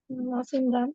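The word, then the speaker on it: Mawsynram: मौसम राम चेरा। मौसिम राम बोलते हैं उसको, एक्चुअली माहेश्वरम स्पेलिंग है उसका। वेटेस्ट प्लेस है वर्ल्ड।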